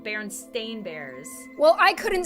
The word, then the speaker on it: Berenstain: I even said it Berenstein bears I always thought it was Baron Steve it's Berenstain it's Berenstain did you know this